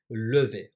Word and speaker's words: levé: Eğer kadınsam, kesinlikle "e" harfini eklerim. Ve elbette, ikisini de "levé" diye telaffuz ediyorum.